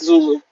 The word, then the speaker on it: Zulu: slavery zebra theta and then they went with zulu okay but you have to pronounce emphasize the first level yeah yokohama is